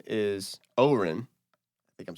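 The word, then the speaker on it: Odhrán: Because it's spelled like Odran, but it's Oren.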